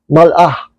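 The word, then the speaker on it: מלאך: Pero sa Hebrew ay malak. I think ang tamang pronounce dyan ay mal'ah. Mal'ah. No? Mal'ah.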